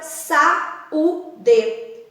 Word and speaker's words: saúde: Pensa na palavra saúde. Esse A e o U, eles têm a mesma intensidade. São palavras ali que são vogais fortes. Não tem como esse U ser semivogal, por exemplo. Por isso ele se separa. E aí seria sa, a primeira sílaba, U a segunda e D a terceira.